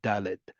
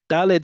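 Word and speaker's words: דלת: Daled sounds a little bit more flat. Dalled sounds a little bit more pointed. Okay, practice it. Pointy a little bit more than normal. It doesn't have to be super sharp, but just pointier when you're hitting right behind your front teeth when pronouncing that sound.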